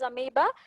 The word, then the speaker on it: amoeba: O is silent, you have to pronounce it as amoeba. So the single-celled organism which you can see in the pond or lake, amoeba, paramecium, euglena, these are the examples of the unicellular organism.